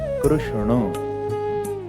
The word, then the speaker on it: कृष्ण: Pronunciation जो वास्तविक है वो है कृष्ण। क्या?